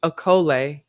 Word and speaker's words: okole: Hawaiian, oko, pronounced okole, Okole.